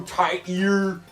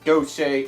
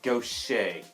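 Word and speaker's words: Gautier: five three and guess that is how you pronounce no say it does not doubt tier it does not go tight here it is go say or don't check if you really want to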